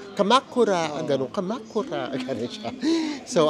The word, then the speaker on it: Kamakura: Pero doon sa ano no yung nag-announce ang pronounciation kamakura ganon kamakura Gan siya So ang una nating